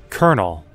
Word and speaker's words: colonel: Colonel. There is no R. Colonel. There is no R in this word.